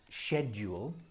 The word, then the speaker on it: schedule: The British pronunciation is schedule, like shed, the wooden house you